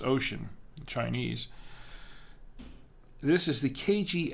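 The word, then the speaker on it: Wouxun: company called ocean it looks like it says wushin but it's it's pronounced ocean chinese this is the kgs 88g it's a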